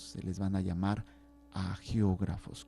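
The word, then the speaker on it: hagiógrafos: les van a llamar a geógrafos con h y G de gato a geógrafos es una H muda o algunos los dicen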